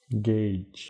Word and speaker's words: Gauge: Irish Gauche, Gauche, ¿cómo se pronuncia Gauche? Gage.